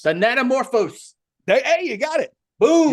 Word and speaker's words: Thanatomorphose: Thanatomorphose. Thanatomorphose.